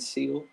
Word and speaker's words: Seel: It's literally just a seal face with two little tusks. Then I can't get over Seal's name. It's just Seel. Seal. It's just Seal.